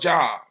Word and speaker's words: Job: was a book called Job. Of course, they pronounce it Job, but it's spelled the same damn way.